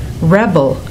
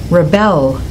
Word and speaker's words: rebel: for a spa treatment did you notice that when the homograph is a noun the stress is on the first syllable record Rebel present when it's a verb the stress goes on the second syllable record Rebel present can